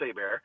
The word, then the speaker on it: Hebert: last name looks like Hebert but it's actually a Louisiana French thing AAR h e b r t so spell it like Kyle Hebert that's how it look but it's pronounced a bear uh you can find